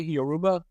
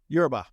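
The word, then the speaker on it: Yoruba: a little bit about Yuba the am I pronouncing that correctly Yuba it's Ura yurba Ura okay Ura all right now this is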